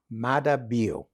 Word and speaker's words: Maada: The president's name is pronounced? President Dr. Julius Maada. Maada.